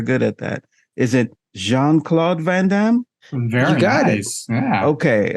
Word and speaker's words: Jean-Claude Van Damme: very goddess yeah okay I thought it was Gene it's spelled Gene I'm just a hopeless American like that but what do I know Jean it is um yes big star